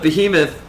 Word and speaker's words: Behemoth: The behemoth.